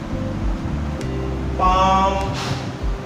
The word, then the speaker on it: palm: If there is word, there is a letter L between A and M, so L is silent. Balm, calm, palm.